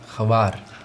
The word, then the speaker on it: Hvar: We went to an island, Hvar. It's pronounced Hvar. Hvar?